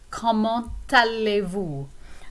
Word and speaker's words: comment allez-vous: So the T normally wouldn't be pronounced if the word were by itself, but when it's followed by a word beginning with a vowel sound like aller, then we do pronounce it.